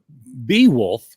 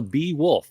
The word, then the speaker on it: Beowulf: worth reading uh so so bee wolf is apparently how it's pronounced um and in Old